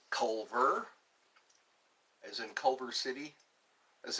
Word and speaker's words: Culver: Colbert. No, it's Culver as in Culver City.